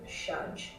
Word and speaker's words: Shaj: you okay and then shaj s h a j but the a is pronounced like a u we are Mrs tops